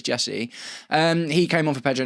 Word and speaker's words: Jesurun: And I called him Max Rak-Sakyi several times in my video today, by the way. Very sorry, Jesurun, if you ever happen to watch this or watch my content. Got your name wrong that time, but it is Jesurun.